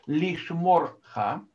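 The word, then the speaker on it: לִשְׁמׇרְךָ: И лишморха это камац-катан, то есть камац, который читается «о», потому что это безударный закрытый слог. То есть после него идет шва, шва под буквой «реш», да? Вот, поэтому слог звучит как «мор».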